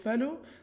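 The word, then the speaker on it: Fallot: نبدأ بأول ديسوردر اللي هو تترالوجي أوف فالو، طبعا تترالوجي يعني هذا مكون من أربع مكونات، تترا يعني أربعة وفالو طبعا التي سايلنت لا تنطق فينطق فالو، اللي هو ديسكريبشن للشخص اللي قام بوصف المرض هذا.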